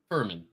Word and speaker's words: Furman: How do you pronounce this team's name? Furman.